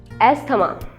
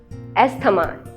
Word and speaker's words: asthma: R is silent here. Asthma. Asthma.